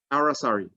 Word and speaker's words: aracari: The fire-billed aracari, that's the pronunciation of that, aracari.